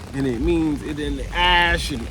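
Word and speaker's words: Æ: X and then the the AE is like pronounced Ash um yeah and then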